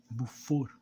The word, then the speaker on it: Beaufort: de elenor Buff e sim essa é a pronúncia buor ela é bastante francesa porque tanto o nome